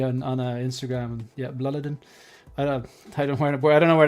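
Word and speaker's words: Blåliden: So it's B L A L I D N B Bladin is the correct way to pronounce it. A Swedish guy voice messaged me on on Instagram and yeah, Bloodadin.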